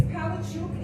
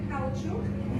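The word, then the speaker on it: Palaszczuk: Palachuk. It's Palachuk. It's technically Palachuk because it's a Ukrainian name. And if you look up how to pronounce CZUK, it's Chuk. That's official. So by the correct name. Palachuk.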